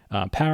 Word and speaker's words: pwr: And the first thing we're going to do is we're going to load the power package. It's spelled PWR.